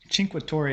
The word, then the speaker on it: Cinque: So our first destination was Cinque, and it took me a long time to figure out how to pronounce that, because it has an H sound in it, but there is no H in the word, so imagine that. So this is walking up